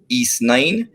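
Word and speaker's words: Ys: my pop culture highlight has to be playing east uh it's it's spelled y s uh so it's east nine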